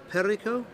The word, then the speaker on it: Perico: that one okay so luis has given me some spanish pronunciation advice uh apparently mr lozano is called perico yeah perico okay there we